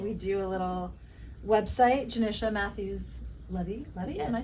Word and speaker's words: Johnisha Matthews Levi: Johnisha Matthews Levi, am I saying it right?